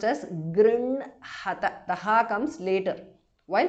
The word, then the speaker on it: गृह्णत: And please note that गृह्णत, the ha is written first and the na is written next. But while pronouncing it, it has to be pronounced as grinhata.